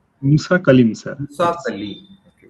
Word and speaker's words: Musa Kalim: How you pronounce it? Muskalim. Musa Kalim, sir.